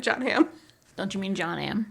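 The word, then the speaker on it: Jon Hamm: what when I mentioned John Ham and they were like how do you spell that and I said John without the it's just how it sounds John without the H two M's and so either I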